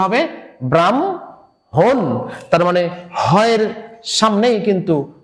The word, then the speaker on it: ব্রাহ্মণ: এই উচ্চারণটা হচ্ছে হ এবং ম আছে, তার মানে ময়ের উচ্চারণটা হবে হয়ের সামনে, তাহলে এটা কি হবে ব্রাহ্মণ। এই উচ্চারণটা হবে ব্রাহ্মণ, তার মানে হয়ের সামনেই কিন্তু মটা চলে আসলো।